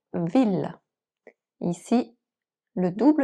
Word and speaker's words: ville: En règle générale, le double L après A, E, O, U et Y se prononcent comme un L, comme dans ville.